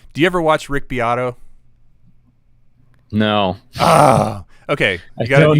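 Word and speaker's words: Beato: guitar player um do you ever watch rick biatto no oh okay i don't know i'm sorry man it's it's it it's spelled beto b-e-a-t-o uh his first name is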